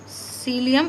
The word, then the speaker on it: psyllium: सीलियम, इसमें P silent है, PSYLLIUM, सीलियम seed husk.